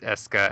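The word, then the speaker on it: Escha: No, it's Eska and Logi, and I refuse to accept that those are the way that those two names are pronounced, and yet they are.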